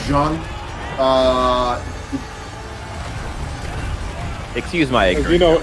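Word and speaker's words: Jeanne: In French, it's Jean.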